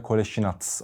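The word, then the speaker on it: Kolašinac: Koleji Nas lakabıyla tank genelde isim telaffuz larına biraz takılıyorlar maalesef ama gelmeden baktım boşnakçada Koleji natz olarak söyleniyor ismi Ben de programında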